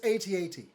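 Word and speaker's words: AT-AT: i'm sorry i said adapt ooh no you do not say it like that you don't say it's accents yeah that's it's a-t-a-t no yeah bryce is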